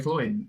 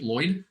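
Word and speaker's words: Mari Lwyd: So I was pronouncing it Lloyd. Apparently it's the soft L.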